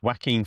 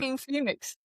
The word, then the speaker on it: Joaquin: Who's No, it's Joaquin Phoenix Is that how you say it? Mm. King Phoenix.